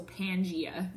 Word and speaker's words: Pangaea: continent that's why it's called the supercontinent so Pangaea is how you say that okay you want